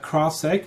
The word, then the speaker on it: CrowdSec: you want and you can find us at crosstak it's spelled c-r-o-w-d-s-e-c dot net and the product is